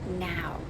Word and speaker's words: Nao: character is called Naoki Yasutani, but she goes by NAO, which is actually pronounced now.